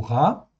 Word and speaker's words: רע: Ra, le voici. Donc il apparaît à l'écran. Hein, ça se prononce ra. C'est un resh et un aïn, comme vous le voyez là.